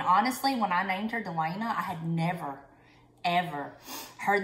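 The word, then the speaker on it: Delanna: but he insisted it have two n's so it's spelled d-e-l-a-n-n-a i wanted it d-e-l-a-n-a but you know and that's how everybody spells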